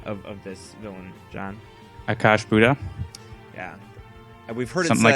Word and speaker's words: Akash'bhuta: Akash'bhuta. Yeah, we've heard something it said like that. Akash'bhuta. I say Akash'bhuta personally.